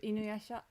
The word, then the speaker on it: Inuyasha: This is Inuyasha.